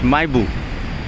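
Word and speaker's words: Mahébourg: It's, you see this spelling Mahebou, but they pronounce it as Maibu, and this is the bus we'll be taking to Maibu.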